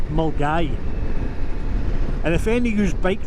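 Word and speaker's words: Milngavie: heading into a place called it looks like mangavi right but it's pronounced mg and if any us bike riders have got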